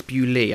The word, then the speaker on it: Bewlay: in the demo um obviously it's bewley I think I'll say